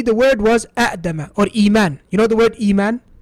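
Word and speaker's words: إيمان: Morphologically originally it was I'man. But because of the difficulty in saying I'man and A'dama and A'kulu and these sort of things, the Arabs, they never pronounced it that way. They pronounce it as Akulu, Iman, Adama, and so on and so forth.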